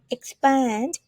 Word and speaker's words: expand: the second one whenever you see ex it pronounce with x x right expand in order to expand your vocabulary you need